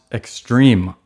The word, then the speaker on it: X22RME: X22RME, which is pronounced extreme.